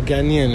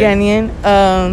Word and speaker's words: Ghanaian: A Ghanaian. Okay. Ghanaian.